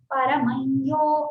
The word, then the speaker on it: परमयो: रही थी, परमयो महत्तेजा, परमम यो करके रहता है, वो यकार देख के क्या है, परमयो ऐसा बोलना पड़ता है, परमयो महत्तेजा, परमयो महत्तपः, परमय्यत् परायणम, तो य करके हम उसका अनुनासिक यकार को उच्चारण करते हैं।